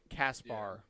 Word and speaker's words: Caspar: i'll take those two caspar ah it's an ar not an er i just assumed hold